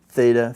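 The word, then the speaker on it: θ: Now this is traditionally how we learn they're pronounced. Chi, theta, phi. Okay?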